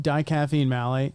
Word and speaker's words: dicaffeine malate: How do you pronounce that? Dicaffeine malate.